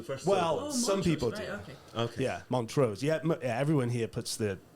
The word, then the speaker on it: Montrose: so the thing is montros is named after montos in Scotland which is montos not Mon montos it's montos some of